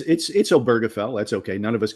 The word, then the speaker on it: Obergefell: And you were one of the lawyers on is it Oberville, the Supreme Court case that helped to get marriage equality? Am I saying it right? I might be saying it wrong. Yeah, it's Obergefell.